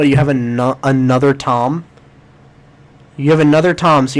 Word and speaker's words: Thom: tom brennaman but it's his first name is spelled all stupid so it's tom but but it's t-h-o-m yes yes that was